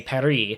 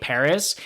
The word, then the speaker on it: Paris: Oh, it's so fascinating because, like, the French do not pronounce the S in Paris. They say Paris. But we as Americans and English speakers usually say Paris.